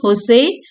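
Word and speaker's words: José: family Tre so the J is uh not pronounced okay Jose Arad first generation okay first generation cou they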